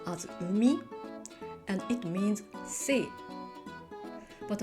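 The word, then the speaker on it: 海: This letter is pronounced as umi, and it means sea.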